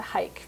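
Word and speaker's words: Huyck: it's H-U-Y-C-K. And you can always remember it in terms of hike the hike, because that's how you, in terms of pronouncing it.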